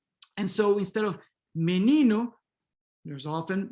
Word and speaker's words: menino: So E and O are then raised and pronounced as E or U, respectively, when there's already a stressed E or U in the word, right?